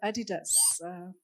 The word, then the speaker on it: Adidas: So I think from what Ida was saying, I'll give you the case of Adidas. That's how it's pronounced.